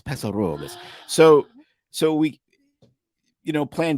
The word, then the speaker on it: Paso Robles: So you got to say it like the locals, Paso Robles.